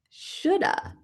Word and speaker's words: should have: How can we combine these to sound a little more natural? We love to combine words. Let's say shoulda.